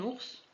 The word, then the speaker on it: ours: Un ours, on prononce le S final.